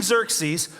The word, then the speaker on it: Xerxes: the king uh King we'll call him King zer that's the easier way to pronounce his name uh but King Xerxes uh calls on his